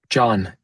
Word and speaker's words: Jon: Do you pronounce your name John? John?